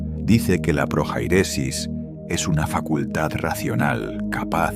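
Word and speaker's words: prohairesis: Esa palabra es projairesis, pronunciada proairesis.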